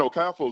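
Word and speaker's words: Okafor: to pronounce this name like the r is silent but I'm like I can't blame them I gotta blame the player for and okafo is not even that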